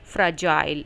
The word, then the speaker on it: fragile: और वावल ए यहाँ पर ले रहा है श्व साउंड। श्व साउंड होती है हिंदी की अ साउंड की तरह, अ फ्र फ्र। देन यू हैव ज, जी is making soft ji sound, ज। सो जी के बाद जब वावल IEY आते हैं हम जी को ग नहीं पढ़ते, ज पढ़ते हैं। This is an important spelling rule to remember.